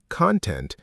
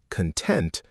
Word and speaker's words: content: Same spelling, different pronunciation and meaning. When it's a noun, content, it means the stuff inside something like a video or a book. But when it's an adjective, content, it means quietly satisfied, peaceful, not ecstatic, not